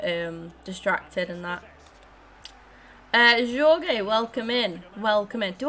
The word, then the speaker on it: Jorge: okay so it's it's they're both pronounced as like as like h as okay it's jorge i will remember next